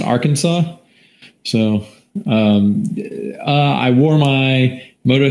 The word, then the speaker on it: Arkansas: like that i'm i'm being told that it's pronounced arkansas so i wore my moto 360 everywhere got